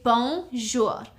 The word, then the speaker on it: bonjour: say hi hello hey you would simply say bonjour it's two syllables bonjour so you would say bonjour which means me I I bonjour okay mattel